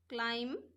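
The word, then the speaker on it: climb: এ আমি এই শব্দবুর জোড়ারে পড়িব লাগিব এর ক্লাইম থাম কম দাম নি নো নাইফ ন এত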